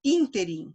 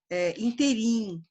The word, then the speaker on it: ínterim: G, ínterim, sílaba tônica é o in. Ela é uma palavra proparoxítona. Eu já vi gente falando interim, mas é ínterim, tá bom?